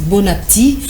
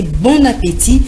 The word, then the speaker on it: bon appétit: qui est à table très souvent les gens disent bonatti pourtant il ya et qui est placé d'un accent aigu donc il faut prononcer bon appétit et l'ombre merci merci